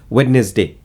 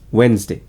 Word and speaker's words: Wednesday: We usually say this as witness day. No, it's Wednesday.